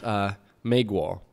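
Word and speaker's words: 美国: So my American, my Chinese word of the pot today is Meiguo.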